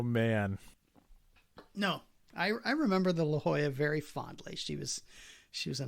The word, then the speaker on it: La Jolla: names on them, so it's the Lajala or the La Jolla. One of those two. I was actually on that boat for a time in the 90s, early 90s, I guess. Okay. We pronounced it La Jolla, but it could be that we were wrong, and it is actually the Lajala. I think La Jolla is a boat and Lajala is a ship.